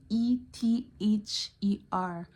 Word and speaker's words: ether: it right but eer it sound like eer too it's a e t h e r so ether is like ether like the the Five